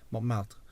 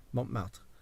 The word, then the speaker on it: Montmartre: out of me relentlessly for pronouncing the name of the artistic and red light district, Montmartre, which is how you pronounce it. That is how it is said, Montmartre, because it's a French word.